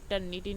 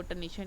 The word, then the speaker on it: Turnitin: ये टर्निटिन है, वैसे इसकी सही जो प्रोनाउंसिएशन है वो टर्निटिन ही है, लेकिन वो टर्निशन टर्निशन मेरी ज़ुबान पे चढ़ा हुआ है, तो मैं आगे भी यही कहती रहती हूँ।